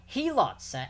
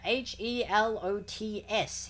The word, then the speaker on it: helots: Helots, H-E-L-O-T-S, helots, or helots. Helots? Helots, one of those pronunciations of that word.